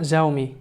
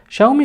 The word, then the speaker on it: Xiaomi: فلغويا شاومي ممكن تتنطق زاومي لأنها بتبدأ بحرف X وبيليها حرف متحرك وهو حرف ال I. ولكن شاومي كلمة صينية ترجمتها بالإنجليزية ميلت، وميلت هو نوع من أنواع الحبوب، حاجة كده زي القمح.